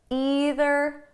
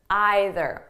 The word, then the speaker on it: either: Now, before we go any further, I just want you to know that the pronunciation is flexible. So you can say neither, neither, either, either. Okay, there's no difference. I might even change them throughout the video.